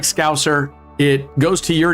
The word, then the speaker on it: Scouser: trying really fucking hard to pronounce Scouser with a really long S, Scouser. Because if I were to pronounce it just in my normal dialect, I'd call it Scouser, right?